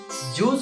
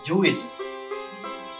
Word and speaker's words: juice: Juice is pronounced as juice. It is not pronounced as Jewish.